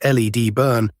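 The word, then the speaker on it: Ledburn: The nearest village, Leadburn, pronounced LED burn, had a population you could count on two hands.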